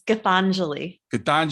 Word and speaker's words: Gitanjali: yeah you said it so well earlier it's cathangely yeah and and you can say gita okay